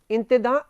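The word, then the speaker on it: intendant: ये वरिष्ठ प्रशासनिक अधिकारी थे, इनको अंग्रेजी में तो लिखते हैं इंटेंडेंट्स, इंटेंडेंट एंड देन प्लूरल हो गया इंटेंडेंट्स, लेकिन फ्रेंच उच्चारण इसका जो है वो है इंतदा।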